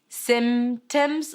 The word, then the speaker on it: symptoms: harder for you and you want to keep the p keep the p okay symptoms or symptoms but make it subtle just small tiny soft just like the corona virus symptoms.